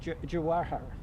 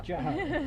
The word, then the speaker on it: Jawahar: of Policy Programs of Protect Our Care, Jawahar. Did I say it right? Jawahar, yeah. Jawahar.